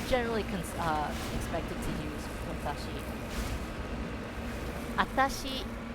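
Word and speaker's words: あたし: Atashi is you drop the first W sound.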